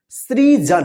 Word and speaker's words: सृजन: ठीक है, चलिए अगला शब्द आपको लिखना है सृजन। क्या लिखना है? सृजन। सृजन, ध्यान से सुनिए कौन सा स का उच्चारण हो रहा है, सृजन।